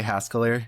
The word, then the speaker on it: Haskeller: Is it Haskeller or Haskalar? I would say Haskeller is probably the more likely um pronunciation you're going to hear.